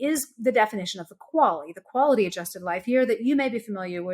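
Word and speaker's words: QALY: year which coincidentally is the definition of the quality the quality adjusted life here that you may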